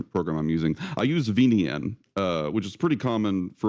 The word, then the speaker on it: VNyan: probably make happen in VNN. It's great. He's asking, how do you spell it? I forget. So it's VNYAN, VNyan, kind of like the Nyan cat, the meme Nyan cat.